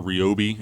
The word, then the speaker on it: Ryobi: I would also suggest you get a tool like this Ryobi, or Ryobi, as apparently that's the correct pronunciation.